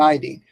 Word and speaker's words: iodine: Iodine, which rhymes with chlorine and bromine, fluorine, and iodide, which rhymes with fluoride, chloride, bromide.